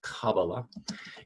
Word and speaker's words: Kabbalah: important term as well so Kabbalah sometimes pronounce Kabbalah is just one of